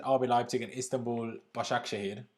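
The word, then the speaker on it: Başakşehir: we leipzig and istanbul bashar akshay apparently is how it's pronounced so tough group tough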